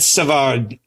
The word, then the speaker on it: Savard: David Savard, pardon pardon my Anglo pronouncing. You can do David Savard. It's okay. I just, you know, David Savar, great guy.